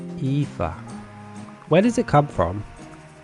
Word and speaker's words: Aoife: Phonetically, not phonetically. I forget what the word is. Is it like waif? Aoife? Aoife.